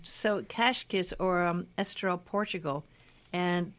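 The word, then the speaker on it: Cascais: your last week Kathy it's not pronounced kaskus it's cashy Kesh okay yeah the S has like a shish sound so cache kiss or a Estoril portugal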